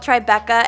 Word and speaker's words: Tribeca: It's actually called Tribeca, and it's often spelled with the T, B, and C capitalized because it's an abbreviation for the triangle below Canal Street.